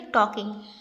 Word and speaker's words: talking: ये टॉकिंग नहीं है, एल साइलेंट होता है। क्या पढ़ेंगे? टॉकिंग।